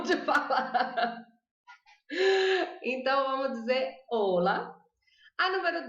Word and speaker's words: hola: Eu vou começar fácil, então eu não vou pronunciar o H aqui. Ola. Vou falar assim, ola. Eu juro pra vocês que tem muita gente que fala rola.